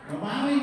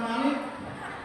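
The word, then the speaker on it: مالك: Alhamdulilla alamin ngahmanirin malingimin maling bukan malik.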